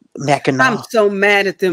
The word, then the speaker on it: Mackinac: Mackinac City is N-A-C. And Mackinac Island is N-A-W. But they're both pronounced Mackinac.